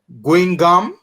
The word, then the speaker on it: Guingamp: He plays for Guingamp, I think is how you pronounce it, in the French second division, League 2.